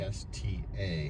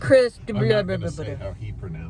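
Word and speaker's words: Christa: He even got Krista wrong. Krista. How else would you pronounce that? It was sort of like he went Chris.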